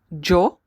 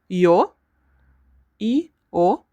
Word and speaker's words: yo: We have four ways to say this letter or this word in Spanish. Jo the most common y o yo sh and especially if you go to Argentina, Uruguay and some parts of Colombia as well.